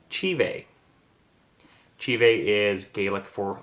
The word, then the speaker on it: Te Bheag: Because it's phonetically pronounced Te Bheag, but it's Gaelic, and it is pronounced Te Bheag.